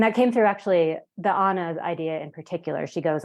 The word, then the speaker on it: Anna: They call her an Anna, A-N-N-A, but in the Nordic pronunciation, as they call all of the sort of hired girls and help and daughters of immigrants, Annas.